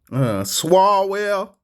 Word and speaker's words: Swalwell: Swalwell, that's how we gonna say it.